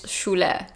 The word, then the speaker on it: Shule: The actual pronunciation is Shule.